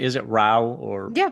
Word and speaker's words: Rao: So, um, you before I ask you to talk a little bit about the immortal king Ralph and am I pronouncing is it Ralph or Yeah, that's right.